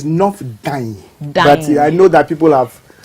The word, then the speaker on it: North Dayi: sir honorable honorable Josh L Member of Parliament not day not day actually it's nor d d I know that people have challenges with the